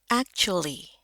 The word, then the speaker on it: actually: Nah ini kebetulan dia lagi berubah, teh ketemu u berubah jadi cu. Cu, a di sini dibacanya kayak kita bilang emas, ya. Ada perak, ada emas. Nah, ini e-nya. Actually.